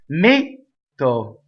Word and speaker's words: metto: Metto. So close the metto. Okay, so double T. So we do not do two T's. We go up to the T, we stop. Metto.